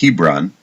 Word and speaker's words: Hebron: the city of Chevron or in English it's pronounced Hebron and at the age